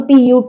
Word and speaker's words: put: So regularly, if you pronounce some of the words where we we may make mistakes like CUT is cut, BUT but when we come to PUT, it's put.